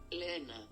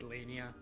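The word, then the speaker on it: Leaina: It's Greek for lioness. Lena. Okay. Her name is Lena, which is really weird, but I just always said Lania, and I don't really know why.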